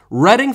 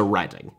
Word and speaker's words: Reading: on a journey to reading you lucky buggers commonly mispronounced as reading due to its spelling by those outside of Britain a market sound famous